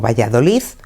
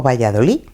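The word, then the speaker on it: Valladolid: Se dice Madrid o Valladoliz Madrid o Valladolí.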